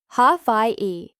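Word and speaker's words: Hawaiʻi: The W makes a V sound since it's surrounded by vowels. And then we have an okina and an I, hence Hawaii.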